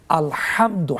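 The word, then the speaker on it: الحمد: যেমন আলহামদু, হা কণ্ঠনালীর মাঝখান থেকে উচ্চারণ করতে আলহামদু, অর্থ হলো সমস্ত প্রশংসা।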